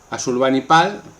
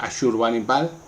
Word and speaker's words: Asurbanipal: Asurbanipal, que también se puede pronunciar Ashurbanipal, fue el último de los grandes reyes asirios de la dinastía sargónida.